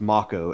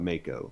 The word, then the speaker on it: Mako: as I have come to find out it's pronounced ma Co and not Mako like I've been pronouncing it for years and